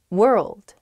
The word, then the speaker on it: world: one's hard world world hard to pronounce that rld i think together is tough plus that w at the beginning as well it's such a short word but you have to say so many weird things at the same time